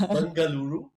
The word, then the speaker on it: Bengaluru: I know how to pronounce Bengaluru. Well, it's not Bangalore, it's Banggaluru.